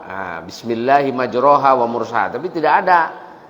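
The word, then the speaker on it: مَجْرَاهَا: Kalau ada yang baca Bismillahi majreha wa mursaha, kan harusnya bukan dibaca majreha, dibaca non majroha. Nah, Bismillahi majroha wa mursaha.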